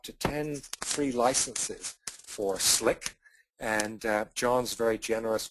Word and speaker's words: CLiq: nice free license for slick um and hopefully you'll enjoy using it and remember the how to pronounce it's not cck it's slick U okay so Kelly's uh